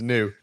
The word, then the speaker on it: Neu: Yeah, I I double-checked the pronunciation. It's Neu.